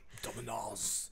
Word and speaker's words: Demonaz: Demonaz. Abbath. That's very good pronunciation.